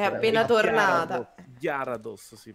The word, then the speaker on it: Gyarados: Gyarados, Gyarados si pronuncia.